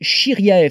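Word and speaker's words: Shiryaev: conseille la chaîne d'un monsieur qui s'appelle Denis chiriae ça s'écrit s h i r y a e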